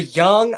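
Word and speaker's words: Jong: Well, the young Ajax, so the younger team young, it's it's like kind of in between that ya type of sound.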